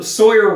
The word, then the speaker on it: Sawyer: Tom Sawyer uh is the wrong kid because uh they Sawyer rhymes with lawyer.